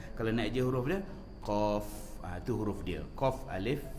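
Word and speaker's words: قاف: Baik tuan-tuan dikasihi yang dirahmati Allah, cuba lihat huruf qaf. Ejaan Melayunya QAF lah, qaf, gitu ya. Kalau ejaan Arabnya qaf, alif, fa, ujung tu ada fa. Jadi qaf, tu dia panjang lah. Qaf, itu cara sebutannya.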